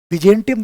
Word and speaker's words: Byzantium: बिजेंटियम देखिए तो pronunciation बिजेंटियम है।